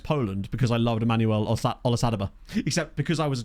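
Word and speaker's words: Olisadebe: because I loved Emmanuel Olasadaba. Except because I was a child, I didn't know how to pronounce his name, so I used to call him Olezadebe, which I think just sounds even better, personally.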